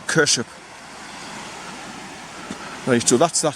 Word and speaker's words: Kershope: e kers I mean I would say Cur hope but the Scottish pronounced it kers now you do that's